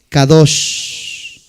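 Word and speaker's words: קדוש: Apúntalo, se escribe Q, ¿de qué eso? Q, A, D, O, S. Kadosh.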